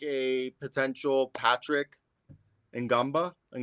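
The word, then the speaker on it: Ngongba: like a potential Patrick Ngamba. It's Gongba. Gumba. Yeah. Gumba. You don't pronounce the N.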